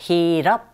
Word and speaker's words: heat up: hit up 이렇게 같이 쓰일 때 up 부분에 더 힘을 줘서 발음하게 되고 hit과 up 사이에 to가 껴있네요.